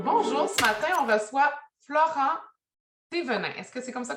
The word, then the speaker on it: Florent Thévenin: Donc, bonjour, ce matin, on reçoit Florent Thévenin. Est-ce que c'est comme ça qu'on le prononce?